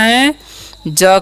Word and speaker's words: has: तो इसका उच्चारण करना है ह, ए का उच्चारण करना है ए, और एस से स, यानी कि इसका उच्चारण स नहीं कर देना है, क्या करना है? ज करना है, ठीक है। तो क्या हो गया? हैज।